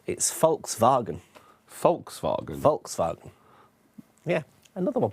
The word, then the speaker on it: Volkswagen: Okay, it's Volkswagen. Volkswagen. Volkswagen. Yeah, another one people mispronounce.